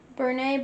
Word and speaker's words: Bernat: And she actually told me that Brene blanket is actually how it's pronounced.